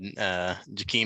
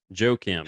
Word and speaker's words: Joakim: I had Jakeem Noah at center. Jakeem? Joakim. Joakim? Joakim, I believe is how you say it.